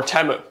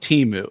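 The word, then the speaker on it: Temu: Alibaba that's true or temo oh yeah I'm glad you said it correctly Johnson would murder you he said if he said Teemu it's U he takes the pronunciation of that brand very seriously almost as seriously as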